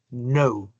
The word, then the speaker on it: know: Y la K. Siempre que encuentre la K al principio de una palabra y la siguiente sil la siguiente letra sea la N, entonces esa K no está ahí sino de adorno, no se pronuncia esa K.